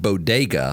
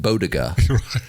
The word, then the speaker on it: bodega: that she said uh the word bodega yes you meant to pronounce it she mispronounced it bodiga so you know